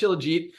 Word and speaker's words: Shilajit: lot of people haven't heard of, it's actually pronounced Shilajit before, but it's freaking awesome. So what does it do? Awesome question. Shilajit it's standardized to basically a humic complex, which is trace minerals.